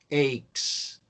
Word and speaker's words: ache: Aches. The pronunciation is ache. In plural, aches.